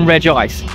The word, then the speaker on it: Regice: Now the in-person Los Angeles one, you'll be able to encounter not just Regigigas, but obviously Regirock, Registeel, and Regice, or Regice, if you pronounce it.